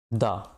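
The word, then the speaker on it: the: अगर वोवेल है तो हम इसके पहले तो हम दी इसको प्रोनाउंस करेंगे, दिस इज दी एग।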